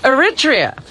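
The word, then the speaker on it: Eritrea: How do you pronounce that country? Robin Aritria.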